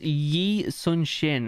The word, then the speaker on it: Yi Sun-shin: And yet, this man, Yi Sun-shin, though he was schooled in the Confucian texts, had dreamed of being a soldier since he was a little boy. So it's pronounced Yi Sun-shin.